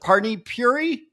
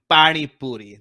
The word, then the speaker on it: pani puri: Parni Puri? Am I saying that right? Yeah. Close enough. Correct me. Go for it. Pani Puri.